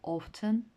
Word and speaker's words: often: і звертаю вашу увагу пишеться often але літера T не вимовляється often часто seldom рідко другий